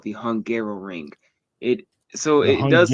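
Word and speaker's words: Hungaroring: don't know the name, it is called the Hungarrow Ring. It So, it does sound like I was just mispronouncing Hungary trying to say it a second time.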